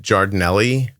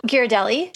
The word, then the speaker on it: Ghirardelli: I use the is it Jardinelli chips? Oh, Ghirardelli.